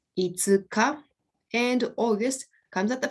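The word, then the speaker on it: 五日: so fifth comes at the end this is pronounced itsuka and august comes at the front it's pronounced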